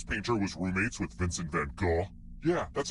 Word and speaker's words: van Gogh: Which famous painter was roommates with Vincent van Gogh? Yeah, that's how you pronounce his name.